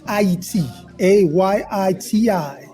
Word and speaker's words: Haiti: a Yi TI this is the correct way to say Haiti well we're getting education